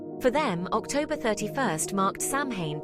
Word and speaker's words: Samhain: and northern France for them October 31st marked samhan pronounced as sein the end of the Harvest and the start